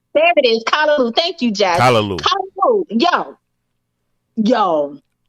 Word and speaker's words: Callaloo: There it is, Callaloo.